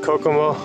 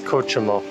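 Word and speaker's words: Cochamó: of payment into kochemo every time i've said it kokomo i apologize it's kochimo i'm pronouncing it with the polish the ch is aha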